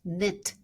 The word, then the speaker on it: NIIT: It is pronounced NIT by the way.